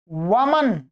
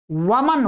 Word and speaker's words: वमन: ठीक है, ऐसे ही एक शब्द है वमन। ये पढ़े लिखे लोग इस शब्द को प्रयोग करते हैं, परंतु उच्चारण में वो भी गलती कर देते हैं। वमन, वमन का अर्थ होता है उल्टी।